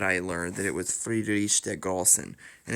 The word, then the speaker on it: Friedrich der Großen: But it was actually only recently that I learned that it was Friedrich der Großen. And it's actually because the big capital B in German actually means two S's. It's pronounced as two S's.